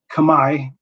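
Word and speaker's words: Khmer: among russian tagalog gujarati kamai which is the correct pronunciation for that by the way kamae or cambodian language german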